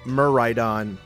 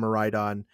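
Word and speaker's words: Miraidon: And for the Scarlet exclusive, and Muraidon for the Violet exclusive, because there's going to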